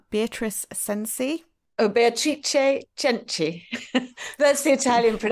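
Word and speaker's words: Beatrice Cenci: try and say this name beatric Sensei oh betri cheni that's the Italian pron pronunciation but yes it's spelled same as beatric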